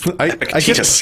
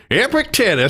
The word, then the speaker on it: Epictetus: But one of your edits that you caught when you were proof listening is my complete mispronunciation of Epictetus. So Epictetus, yes.